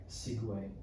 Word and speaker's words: segue: point, do you know how the word segue in that context is spelled? I discovered this recently. No. Because I thought it was like the Segway that you ride, right? Yeah, I would assume so. Segway. Mm-hmm. It's actually spelled Segue.